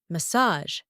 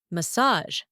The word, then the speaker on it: massage: to pronounce it massage massage massage it is a borrowed French word another examples Mirage it's